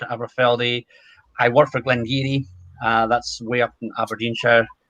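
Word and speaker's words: Glen Garioch: I worked for Glengarry. That's way up in Aberdeenshire. That's the one that looks like it should be Glengarry, but it's Glengarry.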